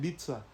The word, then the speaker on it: Ibiza: Like, let them go to Ibiza or Ibiza, here they come. You call it Ibiza? That's how UK people call it. Ibiza. But yeah, I'm from Nigeria and I call it Ibiza, just the way it's spelled.